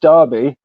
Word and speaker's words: Derby: It's actually pronounced Derby, which is um Derby.